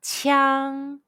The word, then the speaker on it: qiang: When you see the English letter IANG in Pinyin, how would you pronounce it? The answer is yang.